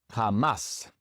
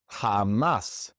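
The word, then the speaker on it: jamás: This word ends with an S. And so naturally, the second to last syllable would be stressed. But in this word, it is the last syllable that is stressed. And so we must write an accent mark above the a.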